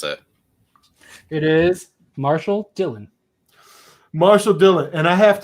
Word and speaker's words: Marshall Dillon: Let's hear you not mispronounce it. It is Marshall Dillon.